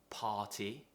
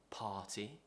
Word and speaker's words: party: be the r sound for example party party we're not pronouncing the r and there are lots